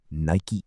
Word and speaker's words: Nike: Then someone suggested Nike, Greek goddess of victory, pronounced Nike. Perfect. Short, mythological, powerful. And on May 30th, 1971, Nike, Inc.